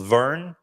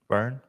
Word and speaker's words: Verne: I don't know if we'll say Rimac, but there was a new brand launched this week called Verne. I think that's how you pronounce it, Verne.